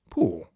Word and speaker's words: Pù: verb to somersault and the same syllable downward poo means I have left the iron on and burnt a hole straight through the seat of the archbishop's trousers.